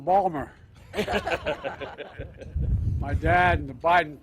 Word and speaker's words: Baltimore: By the way, folks, I say to my dad, "Dad, they're mispronouncing Balmer."